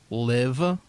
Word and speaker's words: Live: It's called Tig Notaro Live. It's spelled like Live. It looks like live, but it's actually like lit.